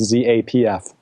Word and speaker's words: Zapf: in the majority yeah it's pronounced just like Za FF even though it's pronounced Zapf so you're good you're